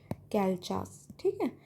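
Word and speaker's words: Calchas: the desitor priest Kalas father Kalchas you can pronounce it as you Calas widowed daughter.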